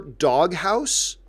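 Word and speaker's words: Doghaus: I prefer Doghouse, and house is spelled H-A-U-S, like house.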